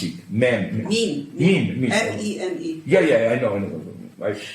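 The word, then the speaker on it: meme: Mean. M-E-N-E. Yeah, I know. I pronounced it in my primitive Slavic. Our writing is much simpler. It's meant to rhyme with gene. I know, of course, that's the point, of course.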